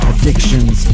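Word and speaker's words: Akshunz: It is spelled A K S H U N Z. Addictions, tattoos, and piercing.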